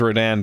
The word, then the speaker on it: Rodin: Whose name is Rodan, but it's spelt different.